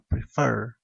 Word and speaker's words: prefer: de voz por ejemplo prefer es un verbo de dos sílabas pero la mayor fuerza de voz recaen la segunda sílaba prefer y la relas dice